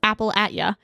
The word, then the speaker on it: Appalachia: up to find her I had not yet learned the rules of Appalachia it's definitely pronounced Apple you and don't get Carol